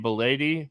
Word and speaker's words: Bleday: And then the other one that, if you're looking to save some money, JJ Bleday. I like that. JJ Bleday, it rhymes.